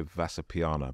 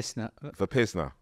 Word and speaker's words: Vipassana: I've got to go on, I can never pronounce it right. I'm going to say Vasapiana, but I'm going to get it wrong. But it's basically Vipassana.